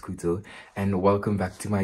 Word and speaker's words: Cootso: Tis I, COOTSO, pronounced Kuto, and welcome back to my YouTube channel.